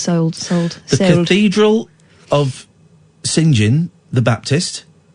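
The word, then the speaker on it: St John: The Cathedral of Singin the Baptist, how you'd say it, isn't it? Sing. No, St. John. Yeah, but it would be pronounced Singin in Norwich.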